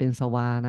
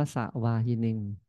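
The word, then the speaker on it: สวาหิ: สวา หิิ สะ นะ อย่า อ่าน เป็น สวา นะ อ่าน ว่า สะวา หิิ สะวา หิิ สะ นี่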